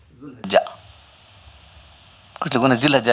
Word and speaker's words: ذوالحجہ: طرح ہوتا ہے۔ لیکن ہمارے لوگ کبھی ذو پڑھتے ہیں، کبھی ذا پڑھتے ہیں، کبھی ذی پڑھتے ہیں، تو ہم لوگوں کو وہ سب حالتیں یہاں نہیں آتی اردو زبان کے اندر۔ تو صحیح تلفظ کا جو ہے ذوالحجہ، کچھ لوگوں نے ذی